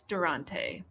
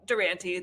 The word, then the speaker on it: Durante: world i'm an independent per adult now it's durante right wow that's so cool that you decided